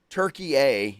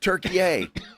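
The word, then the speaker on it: Türkiye: Turkey, eh, is how it's always pronounced. And if you'll notice, they don't spell it Turk- Like what? Like gobble gobble. So Don't do that again, but do that again. So they spell it differently and it's pronounced Turkey, eh.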